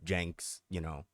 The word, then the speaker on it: Cenk: Like Cenk is, It's pronounced Jank.